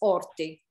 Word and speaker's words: orti: it's just that uh in italian we don't pronounce h so it's orti yes in italian h